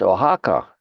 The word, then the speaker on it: Oaxaca: We were talking about Oaxaca. I think that's how you would pronounce that, right?